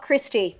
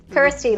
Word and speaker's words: Kirsty: thanks to thank ersity not not Christy oh yeah Americans Americans never always always call me Christine yet Kirstie like rhymes with thirsty exactly you too but